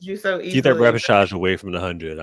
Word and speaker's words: repechage: Repechage. And you're never saying repechage again.